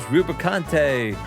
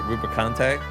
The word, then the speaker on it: Rubicante: Where is Rubicante? Lead us to I always thought it was like Rubicant or something, but I guess they pronounce it Rubicante.